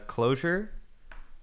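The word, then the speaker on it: Clojure: is this c no it is not c it's uh closure here let me uh it's a lisp language not sure if you're familiar with the name closure at all well if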